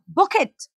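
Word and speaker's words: bouquet: यू ए डी ई बुकट नाउ बुके हम जैसे हम बोलते हैं टी यहां प साइलेंट होता है ठीक है तो बुके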